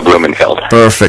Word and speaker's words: Blumenfeld: Samuel Blumenfeld.